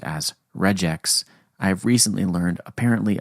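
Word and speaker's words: regex: which is shortened as re gx and I always pronounced as reax. I've recently learned apparently other people pronounce it as reg x because it's regular expressions.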